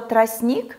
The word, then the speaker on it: тростник: подобрать слово «сердечко», где мы отчетливо слышим нашу непроизносимую согласную «д». Или, например, в слове «солнце» мы подберем проверочное слово «солнышко». Для слова «тростник» мы можем подобрать слово «тросточка».